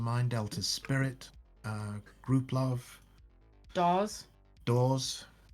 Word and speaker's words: Dawes: And in the last 10 years, bands that have become great favourites of mine: Delta's Spirit, Group Love, Dawes, Doors, not Doors.